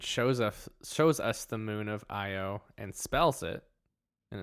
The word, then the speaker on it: Io: So, on the moon Io, which, fun fact, when it opens up and shows us the moon of Io and spells it, and it's spelled, you know, the letter I, the letter O.